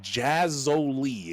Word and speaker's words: Jazzoli: Uh it's pronounced Jazzoli as we just got uh corrected by our gracious and beautiful producer. Uh so we're going to try and make sure that we have two Z's in there even if we only see one.